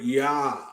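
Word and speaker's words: יד: the hebrew words for minister is the word yad it's spelled it's fail yo dallet okay and for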